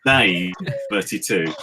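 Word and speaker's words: Naze32: If you go back to the fun center that is Time Cop, he actually had it on his page that it was pronounced Naze 32.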